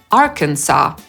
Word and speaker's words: Arkansas: Więc A jak Alabama /æləˈbæmə/, Alaska /əˈlæskə/, Arizona /erɪˈzoʊnə/ i ten pierwszy kłopotliwy – Arkansas /ˈɑːrkənsɑː/.